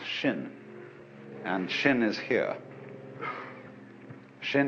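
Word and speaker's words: 心: in chinese mind is this word pronounced shin and shin is here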